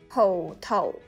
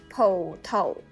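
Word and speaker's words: 葡萄: 포토우. 이것은 포도. 포토우. 포도. 포토우.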